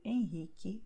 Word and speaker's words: Henrique: The U is silent here, okay, QE, QI. So you have Carlos, Marcos, Custódio, Henrique, Quitéria.